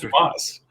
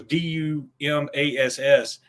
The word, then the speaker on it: Dumas: yeah, all that's fine, but it's pronounced Dumas, because the kid was saying it another way that I can't say on here anymore.